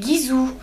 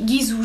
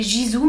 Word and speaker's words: Gisou: l'adorer vraiment de chez Gizou alors ça se dit Gizou j'ai entendu prononcer Gizou mais c'est Gizou la créatrice donc nine